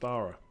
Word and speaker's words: Dara: And because I live in Ireland, I know it's pronounced Dara. Dara? No, Dara. It is Dara, isn't it? When I said that out loud, I suddenly started saying it wrong.